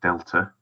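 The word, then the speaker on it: Δ: aspects of physics that we often use a triangle which is pronounced Delta on the V the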